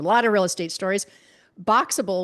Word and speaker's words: Boxabl: Boxable, which is spelled Boxabl, that's a modular home company.